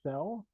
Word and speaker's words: Zyxel: our major product lines so to begin with zel and that is how you pronounce it zyell is um part of the